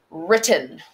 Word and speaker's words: written: Written. Again, a W paired with the R that you can't hear.